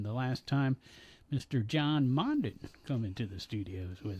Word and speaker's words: Mondin: Is it Mondin or Mondin? It's actually pronounced Mondin. Yeah, but most people have changed it now to Mondin. Yeah. Right. Yeah. It was simpler.